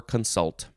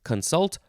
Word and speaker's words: consult: to deliberate counsel or consult next word wow wow it is the second form of con so it's uh you can pronounce it both ways consult or consult noun from 1560 it's